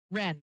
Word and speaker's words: Wrenn: Wren, like the bird. Or I used to say like Ren and Stimpy, but that's old. WRENN. It's English W, but the W is silent. So it's WRENN.